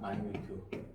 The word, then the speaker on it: minute: 마이뉴트. 영어 발음이. 미니츠 하면 안 돼요. 마이뉴트라고 발음하셔야 돼요.